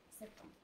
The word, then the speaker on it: septembre: Alors, we would not say beurre, we would put the R before the E. Septembre. Ouais, ok, très bien. Septembre. Septembre. But only deux battements, seulement deux battements. Ouais, septembre.